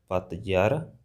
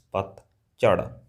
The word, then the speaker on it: ਪਤਝੜ: These sounds they don't exist in English, all right? So, probably you guys say pronounce it as like Pat Jhar, Pat Jhar, but it's not Pat Jhar. It's Pat Jhar.